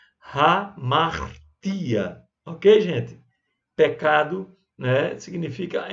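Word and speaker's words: ἁμαρτία: Mas em grego, quando tem um Hzinho desse aí, significa que ele tem um espírito rude, que deve ser pronunciado. Então, hamartia.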